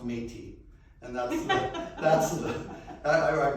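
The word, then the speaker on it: Métis: a lot here so i'm sorry but it's pronounced metis and that's that's i i've heard some interesting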